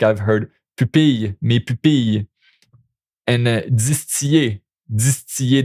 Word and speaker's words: pupille: And you see now I just pronounced it with the Y. Why did I do that mistake? It's because in Quebec, those three there, we often pronounce it with the Y, which I guess is a mistake.